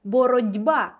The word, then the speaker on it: боротьба: пишеться з літерою Т але вимовляємо ми це слово зовсім інакше почуйте боротьба боротьба дуже хочеться написати де літеру д тобто в цьому і є суть уподібнення пишемо ми слово одним чином а вимовляємо зовсім іншим боротьба в транскрипції буде